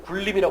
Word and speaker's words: 군림: 어떤 식으로 보시면 되냐면 제가 군림이라는 표현 있잖아요 군림을 했어요 그러면 이게 그 쓸 때는 우리가 군님 이렇게 쓰잖아요 근데 발음할 때는 굴림이 하잖아요 렇게 되는 거죠 이게